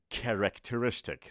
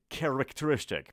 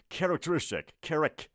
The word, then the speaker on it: characteristic: دوستانی هستن که به این لغت میگن characteristic، رسما میگه کره، یعنی ببین آ میگه ا میگه. دوستان عزیز تلفظ این لغت correct نیست، ببینید اولش که میگیم که، بعدش میگیم ره، نمیگیم دوباره کره، پس میگیم characteristic.